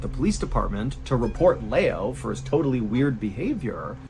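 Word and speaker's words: Liu: his totally weird Behavior I called him Lou his name was Lao my bad this was at a time when the Maro missing person case was still totally front of In fairness his name is spelled l IU that is Lou so I my apologies his name is Leo but it looks like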